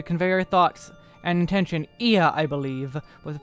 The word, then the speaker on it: Ea: When the vibration of local folds was still required to convey our thoughts and intention, Ia, I believe, was the pronunciation used when referring to our people.